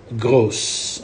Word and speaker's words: gros: clothes go for masculine don't pronounce the S you go gross okay so le kou